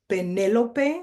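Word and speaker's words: Penélope: If you notice in Espanol, her name is Penelope with an accent on the E. So it just allows you to have that conversation about the difference between Penelope in English and how we pronounce it in Espanol with the accent.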